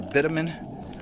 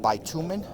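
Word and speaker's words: bitumen: of the roof should come off use a bitumin roof some call it a bitamin but it's pronounced bitumin B tuu me n we also have PVC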